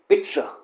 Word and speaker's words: pizza: करता हूँ, बट आप इसे भी शायद गलत प्रोनाउंस कर रहे हैं। अब अगर आप इसे पिज्जा बोल रहे हैं तो that is wrong, that is नॉट the right way to pronounce it. इसका राइट वे है पिज्जा, पिज्जा।